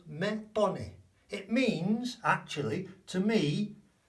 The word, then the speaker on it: me pone: Me pone, not me, remember the vowels, me pone.